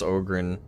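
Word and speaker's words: Ogryn: Like, I love how you pronounce Ogrin. Ogrin. Ogrin's how it's supposed to be said. Really? I've always said Yeah, Ogrin. that's because it's supposed to be they're like an ogre.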